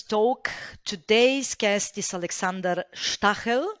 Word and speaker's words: Stahel: Today's guest is Alexander Stahel. We decided to use the German pronunciation, and this episode is dedicated to energy and geopolitics.